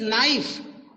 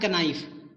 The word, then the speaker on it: knife: Yes, this is नाइफ, नॉट कनाइफ. के से का तो नहीं बोलते ना. This is नाइफ, नॉट नाइफ. यानी के इज द साइलेंट वर्ड. के and both letters are pronounce as ना.